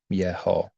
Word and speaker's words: Yeho: And they're always pronounced, they're always called out for Yeho.